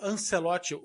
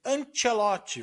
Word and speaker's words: Ancelotti: respeito também chamando Carlo Ancelote. O cara é italiano, pelo amor de Deus, é Antielote.